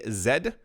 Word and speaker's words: Zed: that I'm in Canada it is pronounced Z so please do not get confused when I say Zed because that's simply how it's pronounced and also this is